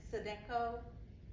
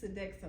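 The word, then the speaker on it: Sodexo: Visa General Electric SED sedo I'm not pronouncing that right am I is it sedo it's sedexo but that's okay thank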